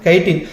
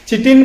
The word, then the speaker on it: chitin: அடுத்து நீங்க பாத்தீங்கன்னா 5வது லாஸ்ட் டெக்னாலஜி கைட்டின். சிட்டின் ப்ரொனவுன்ஸ் பண்ணுவாங்க, CHITIN.